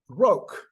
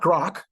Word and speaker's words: Grok: groke yes that's how you pronounce it Gro not grock not Gro not gr anyway it's Gro according